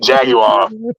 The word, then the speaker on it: jaguar: with the king's english that's how you say it jaguar it's three syllables jaguar sometimes pickles pickles is